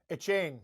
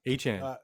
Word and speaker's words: Etienne: Etienne. I always pronounce his name wrong. Etienne.